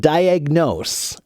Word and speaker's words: diagnose: to pronounce the word diagnose diagnose diagnose diagnose okay and when you say it quickly the ah becomes more of an uh so diagnose diagnose diagnose Eduardo wants me